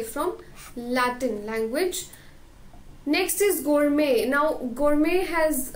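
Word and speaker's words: gourmet: food and drinks तो उसे हम क्या कहते हैं गोरमे ठीक है इसको गोरमेट वगैरह नहीं बोलना एक आइसक्रीम भी आती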